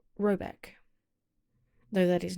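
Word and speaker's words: Råbäck: The manor house, or hergård, in question is to be called Raback, pronounced something like Robeck, though that is not its name.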